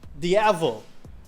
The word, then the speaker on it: Diavel: How do you pronounce it? Diavel? Diavel.